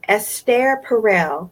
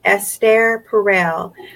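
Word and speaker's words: Esther Perel: go ahead I listened to this lady named s stare Parral I want you guys to write that down s stare Parral I think her name is spelled like Esther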